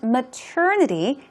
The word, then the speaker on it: maternity: And maternity, this is tricky to pronounce. Maternity.